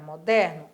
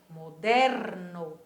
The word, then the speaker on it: moderno: velho e moderno para moderno Olha aí outra palavrinha de novo que a escrita da mesma maneira mais pronunciada diferente moderno Olha a vibração do meu web para moderno é aborrecido